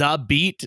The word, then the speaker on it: XABeat: today me let's start with this this is a beat that's how you say it right like yes